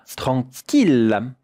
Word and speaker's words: tranquille: Et maintenant, regardez comment cela se prononce avec une voyelle nasale. En, un son nasal. En. Tranquille, tranquille. 2 syllabes.